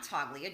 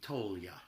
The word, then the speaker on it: Toglia: way what we say that's the American pronunciation the Italian pronunciation would be tolya was the GNA yeah